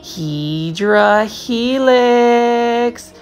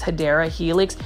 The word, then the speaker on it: Hedera helix: The return of Hedra Helix. I love me some Hedra Helix. The English ivy, the actual correct way to say it is Hedera Helix.